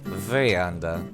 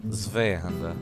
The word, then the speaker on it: Zweihander: It's pronounced double V. Zweihander. Zweihander.